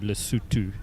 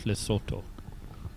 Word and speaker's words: Lesotho: It is spelt with a O, but it is pronounced with a U, Lesotho, and not Lesotho.